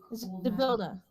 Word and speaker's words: Zybilna: I'm just trying to figure out what happened to oh my god, I can't pronounce her name. Zybilna. Zabilna? Zybilna.